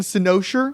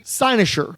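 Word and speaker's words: cynosure: same thing with this I was always saying soser which I think sounds cooler thesaurus Theus whatever um it's actually sinosure say I just like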